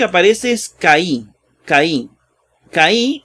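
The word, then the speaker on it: καί: Lo primero que aparece es Caí. Caí, o que, ¿verdad? Porque la AI se pronuncia E.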